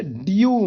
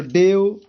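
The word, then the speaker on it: dew: के बाद डब्लू है, तो इसको डेओ नहीं पढ़ेंगे, न मेयो, न नेओ, नहीं, इसको पढ़ेंगे डीओ। इनकी यू पढ़ते हैं ना, तो डीओ, म्यू, न्यू। उच्चारण स्थान कैसे, ड्यू, म्यू, न्यू, इस तरीके से पढ़ेंगे, क्योंकि ई डब्ल्यू को यू पढ़ते हैं, यू पढ़ते हैं, ना कि एव। तो डेव, मेव, नेव ऐसा नहीं पढ़ेंगे भैया।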